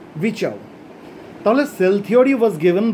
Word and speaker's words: Virchow: আরটা উজ্জ থাকে, স্পেলিংটা হচ্ছে VIRCHOW, যাই হোক উচ্চারণটা হবে রুডলফ ভিচাউ।